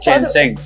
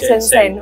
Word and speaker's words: Shenzhen: Shenzhen. Ok, Shenzhen.